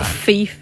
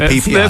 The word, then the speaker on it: Phi Phi: Phi I think that's it's not feif no no let's go with PP go the plan was